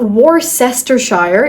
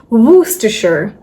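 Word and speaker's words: Worcester: So this is not Warcester. It's Wooachure. Woohasher. You can even do it in a British accent.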